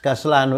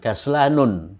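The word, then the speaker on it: كسلان: Malas, kaslanu itu ghairu munsharif, tidak bertanwin. Jadi malas itu bukan kaslanun, tapi kaslanu.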